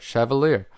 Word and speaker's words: Chevalier: to have it so this is the savivi schaevelier yeah i said it right chevalier so we are opening up this for the